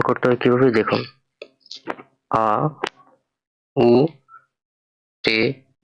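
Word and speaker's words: Auto: এখানে লেখা আউটো যার অর্থ গাড়ি জার্মানিতে। তো এটা উচ্চারণ করতে হয় কিভাবে দেখুন, আ, উ, টে, ও, আউটো অর্থ গাড়ি।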